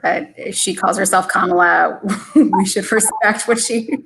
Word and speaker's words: Kamala: of Reuters pointed out, it should be Kamala, as in the punctuation mark. Deepa, any insights into this? I think she has weighed in on this before, but if she calls herself Kamala, we should respect what